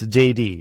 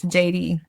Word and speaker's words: Jeiri: Yeah, because it's in Spanish and you would roll your Rs.